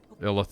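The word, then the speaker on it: Illithid: them now they are called I can never pronounce it's you listed correct okay Lillith it is apparently correct yeah illah thid slash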